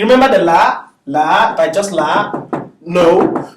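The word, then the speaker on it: لا: the la by just la? No. So it's a lam and an elongation. La. La. The lam, the a sound is to the la, and the alif is silent. That's what makes it la.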